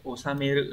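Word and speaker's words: 収める: Này phải đọc là osameru này.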